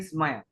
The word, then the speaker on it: स्मय: एक बार और पढ़ देता हूँ, क्योंकि यहाँ पर एक तो इधर इस नहीं बोलना, हमारी आदत है आधा साधा इस बोलते, इस नहीं स्मय, स्मय है।